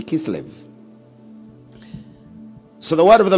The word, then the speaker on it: Kislev: the ninth month, even in Kislev, or Kisleo, whichever way you want to pronounce it, but it should be Kislev.